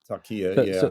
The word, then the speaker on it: taqiyya: I believe there's a tenet of Islam or a value within Islam for something called taqiyya. Am I pronouncing that correctly? Taqiyya, yeah.